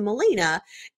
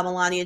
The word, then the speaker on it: Melania: just read it and in my mind I translated Melania to Molina and so that's how just thought her name was and then I would